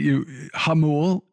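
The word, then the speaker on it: Jamul: Hamul is that's the correct pronunciation and just like Hamasha, right?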